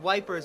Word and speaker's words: Ypres: Dubbed wipers by British troops due to the difficult pronunciation.